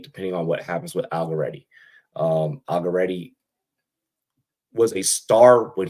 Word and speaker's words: Allegretti: Allegretti. Allegretti.